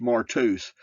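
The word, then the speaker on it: μάρτυς: definition for Witnesses Greek Strong's number 3144 martus pronounced martus meaning by analogy a martyr what is a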